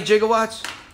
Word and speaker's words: gigawatt: more satisfying to me now if you pronounced it gigawatt okay kind of like gigabyte yeah you know the